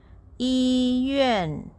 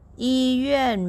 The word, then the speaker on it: 医院: It's pronounced this way. Yuàn, yuàn, yuàn, yuàn. Yīyuàn. Yīyuàn means hospital.